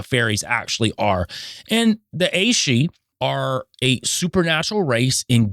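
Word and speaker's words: aes sídhe: And in Ireland, the mythic Aeshe, and this is spelled Aesidhe, Aeshe, or people of the fairy hills.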